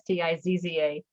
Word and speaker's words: Stizza: Stizza, which is spelled like pizza, but pronounced differently. So it's Stizza.